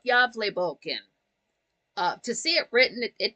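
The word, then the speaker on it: Gävlebocken: It's not pronounced the same way it's spelled because it's Swedish.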